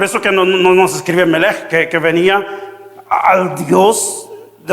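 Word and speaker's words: מלך: Y la pronunciación era Melech.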